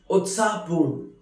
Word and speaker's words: उत्साहपूर्ण: Utsahpoorn, which is pronounced as Utsahpoorn, which means very excited, very lively.